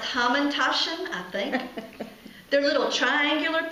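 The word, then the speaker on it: hamantaschen: And they actually have I this is pronounced hamandashen.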